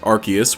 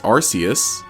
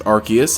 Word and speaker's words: Arceus: recent clarification of pronunciation it's pronounced arceus with a hard c the reason you might hear the occasional tom dick or harry pronounce it as arceus is because that's just